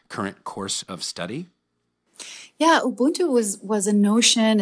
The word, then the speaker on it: Ubuntu: And speaking of which, shifting gears a little bit, Leyla, I saw your TED talk that you gave in Austria about Ubuntu.